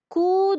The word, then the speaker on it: coups: Quand j'ai entendu 3 coups de feu, j'entoure P et S. C'est muet. Coup, je dis coup.